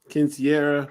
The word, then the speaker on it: quinceañera: Bar mitzvah, quinceañera. How you say the word? You said it right.